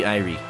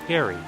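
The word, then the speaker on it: Eyrie: This way to the Eerie Irie. Okay, I'm gonna look up how to pronounce E-Y-R-I-E real quick because I don't want to mispronounce it. I think it's just... Wait, what is this? Airy.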